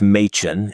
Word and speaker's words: Machen: It's Machen, Machen.